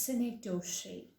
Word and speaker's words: synecdoche: is which I'm introducing you to it is cynic toshe so you should just take the take that down it is spelled with an S in the beginning and